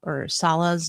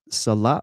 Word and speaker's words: Salah: Salah with the emphasis on the second syllable. It's not Salah, right? Yeah, it's Salah, not Salah. Salah, yeah, Salah. Like 2-syllable, a down up.